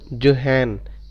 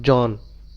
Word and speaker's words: Johann: he was not a Gregor, he was Gregor जोहान, नॉट जॉन, जोहान Mendel.